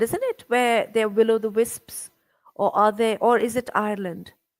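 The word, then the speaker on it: will-o'-the-wisp: Have you heard about will o' the Will o' the wisp? Wisp, Wisp. Will o' yes, the wisp? Yeah. I must have. Am I pronouncing it correctly?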